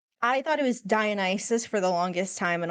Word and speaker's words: Dionysus: Dionysus is that guy, non-gendered. I actually did not know that was how you're supposed to pronounce his name. I thought it was Dionysus for the longest time, and only relatively recently